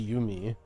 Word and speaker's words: yumy: I mean, it's definitely pronounced Yumi, but Yumi is short for yummy.